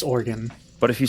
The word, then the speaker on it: Oregon: arguments about whether it's Oregon or Oregon it's organ but if you say here's the one example